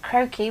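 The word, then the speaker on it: croquis: as well if you can find it i'll spell it out for you okay so it's croaky which is c r o q u i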